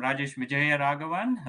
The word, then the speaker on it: Rajesh Vijayaraghavan: I'm Rajesh Vijayaraghavan. That's how you spell it, Chris, or that's how you pronounce it.